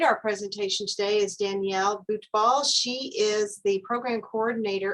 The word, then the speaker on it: Butbul: And we have Danielle Butbul. Am I pronouncing that right?